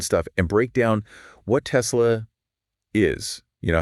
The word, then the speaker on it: Tesla: I know we hear it both ways, Tesla and Tazilu, but the name of Nicola Tesla, their namesake is actually Tesla. Tesla.